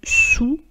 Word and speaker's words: sous: Nous continuons donc à découvrir le corrigé de cet exercice : sous, à travers, loin de, en face. Vous remarquerez que « sous » on ne prononce pas le « S » et « à